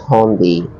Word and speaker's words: Hyundai: It's pronounced Hyundai.